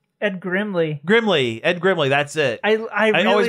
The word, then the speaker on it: Ed Grimley: now is the uh the wacky Misadventures of Ed Grimsley Ed Grimley Grimley Ed Grimley that's it I I always mispronounce that really liked that show when I